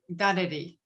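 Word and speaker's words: dadirri: Miriam Rose Ungumare-Bauman, who used the term dareri. So it's spelt, and I'll put it in the chat in a minute, but so it's spelt different to how it's pronounced.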